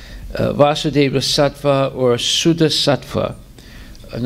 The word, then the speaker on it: Vasudeva: So the word Vasudeva with a long A is referring to Krishna.